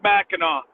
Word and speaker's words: Mackinac: on Mac and Mackinac Mackinac Island what was it called pronounced Mackinaw I'm sure it's Mackinaw okay it's the one